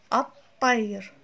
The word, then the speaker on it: الطير: الطير، الطير، كأنما أدغمت ال مع الطاء فأصبحوا حرفا واحدا مشددا لفظا الطير. أما كتابتها فتكون الطير مثل ما إحنا معتادين أن نكتبها، الطير، الطير، باعوا لفظها هكذا، لفظها الطير. إذا هنا لا تلفظ اللام وتدغم مع الحرف الأول من الاسم الذي أضيفت إليه.